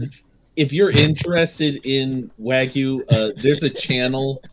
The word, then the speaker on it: wagyu: talking the 25 blogging how's it pronounced um wagyu w-a-g-y-u the one that